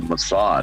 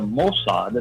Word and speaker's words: Mossad: your interpretation of the Mossad, that's how you say it, Mossad, not Mossad, Mossad. Get it straight.